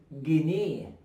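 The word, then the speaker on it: جنيه: Make sure to pronounce it right. Gneeh. Say it. We're gonna pronounce it fast. Gneeh. Gneeh. Gneeh. I never close my lips, okay?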